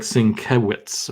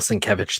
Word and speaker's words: Sienkiewicz: All his materials has like a sin and then like a Kev and then an itch, like how to pronounce his name in it, because I guess he got annoyed.